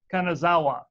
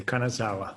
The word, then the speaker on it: Kanazawa: with AARC is Kanazawa and I know that just butchered your name can you how do you pronounce your last name sir you said it perfectly Kanazawa it's a good Italian